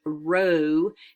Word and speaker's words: rho: Pearson's R and then this is pronounced Rho and it can't be